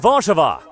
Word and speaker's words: Warszawa: Poland's capital and largest city is Warsaw, which in Polish is pronounced Warszawa.